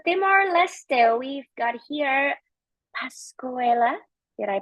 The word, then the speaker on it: Pascuala: Moving on to Timor Leste, we've got here Pascuela. Did I pronounce it correctly? Yeah, perfect. Thank you. I'm Pascuala.